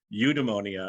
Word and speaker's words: eudaimonia: i put the the phonetic spelling here it's pronounced eudemonia and you just think no eudemonia no unemonia